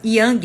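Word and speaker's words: Jan: livro de aluguel né se escreve Jam mas se fala Young é um cidade para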